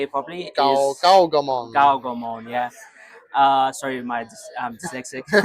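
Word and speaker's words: Gaogamon: Gaogomon.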